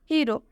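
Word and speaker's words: hero: हीरो, हीरो में आप देख सकते हैं जो हीरो शब्द है इसके अंत में, हीरो वर्ड के अंत में इसके लास्ट में ओ आ रहा है, इसलिए इस ओ का उच्चारण ओ से होगा।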